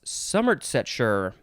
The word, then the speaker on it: Somersetshire: Somersetshire, England. Somersetshire. It's like 3 words in one. Somersetshire. I don't think they say shire. I think they say sure.